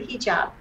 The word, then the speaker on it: hijab: feel uncomfortable wearing the hijab am i pronouncing it correctly yes totally correct i said totally correct